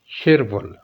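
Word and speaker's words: 칠월: को छिल कहते हैं, और इस जो रियल है पश्चिम में आ रहा, ये कैरी और रूल की वजह से चूंकि इसके आगे यंग है तो आर की साउंड देगा, तो लफ्ज़ प्रोनाउंस होगा शिरवल।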